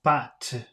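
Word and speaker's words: pâte: sound different but but so with these circumflex it sounds like ah but and p-a-t-t-e sounded like if I remember correctly bats so but and bat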